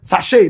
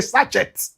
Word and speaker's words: sachet: They throw them and they don't even know how to pronounce the word sache. They say sachet.